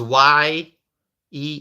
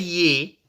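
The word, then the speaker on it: Yee: all right Betty ye the last name is y e e I think it's pronounced ye Betty ye okay Betty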